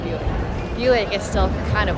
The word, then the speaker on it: Buick: It's pronounced Buick.